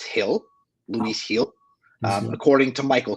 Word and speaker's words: Gil: had a really bad couple Innings but he's Gil though um actually I believe it's pronounced Hill Lis Hill according to Michael K who I